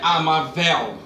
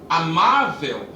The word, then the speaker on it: amável: palavra também não é a marvel e não é a marvel é amável e por acaso também